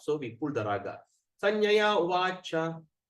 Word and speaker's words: Sanjaya Uvacha: Sanjaya Uvacha. Imagine the A, there's a dash on top, so we pull the raga. Sanjaya Uvacha.